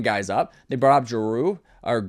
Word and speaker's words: Giroux: They brought up Jeru or Giroux. It's That's a tougher name for me to say cuz it's spelled just in the worst French way where you're just adding words or letters in that aren't there.